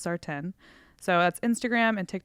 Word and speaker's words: Sartain: sardon that's p-a-y-t-o-n-s-a-r-t-a-i-n looks like Sartain it's pronounced sartin so that's Instagram and